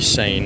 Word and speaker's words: Seine: oh yes a lovely Bridge across the sane which is I think how it's pronounced I've been warned multiple